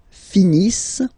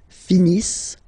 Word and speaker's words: finissent: Ils finissent. So remember, as usual, when we get the verbs, E-N-T, not pronounced. Ils finissent, elles finissent.